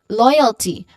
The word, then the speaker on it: loyalty: So that's loy, oi. Oi is the diphthong, and it is part of the first syllable, loyalty. Loy. So loyalty, we have a short, quick unstressed vowel sound here, and then just say the last syllable exactly how it looks like.